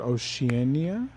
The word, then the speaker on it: Oceania: I know that the museum recently reopened the galleries for Arts of Africa and Arts of, and I'm going to mispronounce this word, Oceania?